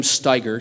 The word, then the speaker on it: Steiger: Steve hello thank you my name is Sam Steiger say Mike that's alright German name tough tough on pronunciation just like the tractor thank you very much